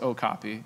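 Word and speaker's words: Ocopea: source product of ours called okapi pronounced okapi regardless of how you see the spelling so this is an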